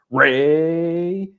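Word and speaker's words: Rainier: They pronounced Reineer like it was a an engine revving. So, it was Rainer.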